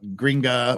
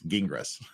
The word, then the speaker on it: Gingras: we can figure out how to pronounce gingras it's not gringa or Gringos or grots it's gingras so uh that's that's the